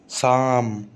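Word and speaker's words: psalm: पी या पे always remain silent in sequence of पी एन और पी एस। कभी भी पी और एन एक साथ लिखा हुआ आ जाए, पी एस लिखा हुआ आ जाए एक साथ, तो हमेशा पी साइलेंट रहेगा। जैसे साइकोलॉजी, साइकोलॉजी, साम, साम, न्यूमोनिया, न्यूमोनिया, न्यूमोनिया। ठीक है, पी नहीं बोला तीनों में।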